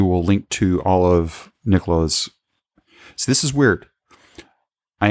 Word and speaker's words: Nicolas: They can reach me on Twitter, Nicolas. So yeah, I'm French, so it's written with an S, but it's not pronounced. So it's Nicolas at of.ch.